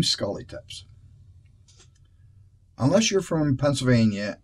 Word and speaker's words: Schuly: The problem is the Y is silent, and Y usually isn't a silent letter. So I get a lot of phonetic attempts, like Schuylkill or Schuylkill, which make perfect sense.